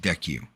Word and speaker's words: DCEU: And they already had a kick-ass animated universe, so DCEU pronounced DECU.